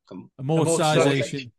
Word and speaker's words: amortization: Amortization.